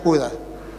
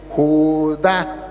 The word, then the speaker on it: Judá: Y él leía Judas, al final Judas será salvo. Le dije, no hermano, aquí dice Judá, tiene acento en la ignorancia, es atrevida y lo lleva a decir cosas que no son.